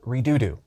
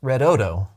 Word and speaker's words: Redodo: Today I'm going to introduce you to a company that makes batteries called Redodo. It may be pronounced Redodo, but saying Redodo is way more fun.